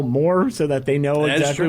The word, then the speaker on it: Mohr: Maybe you want to spell more so that they know exactly what it is. MOHR. Not J Moore, but spelled like J Moore. Talking More Wrestling, MOHR.